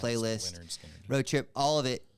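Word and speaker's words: Lynyrd Skynyrd: I did this bucket list, Pronounce it playlist, Leonard Skinner.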